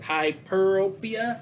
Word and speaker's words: hyperopia: know but it's hyperropia so i gotta remember hyper and rope but um what happens